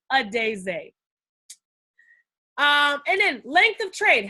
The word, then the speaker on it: Adaeze: How do you pronounce the name? Adaeze.